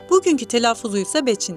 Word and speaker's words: Beçin: کہا جاتا ہے ۔ آج کا تلفظ Beçin ہے۔ پہاڑی پر پہلی بستیاں